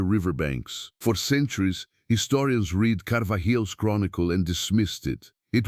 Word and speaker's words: Carvajal: His name was Gaspar de Carvajal, pronounced Carvajal, a Spanish friar, and in the year 1542